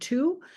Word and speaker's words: two: as the pronunciation changed so we no longer pronounce the W in this word to but this the the